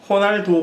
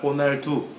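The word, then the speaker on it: Ronaldo: 가늠이 되는 거죠 포르토 가 아니라 포로 투어 호날도 가 아니라 호날두 또 맨 앞에 있는 알리나 2개 기병 cr 마을 발음은 h 로 되구요 그래서 로 날 2가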